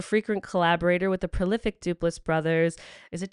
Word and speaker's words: Duplass: She's a frequent collaborator with the prolific Duplas Brothers. Is it Duplass Brothers?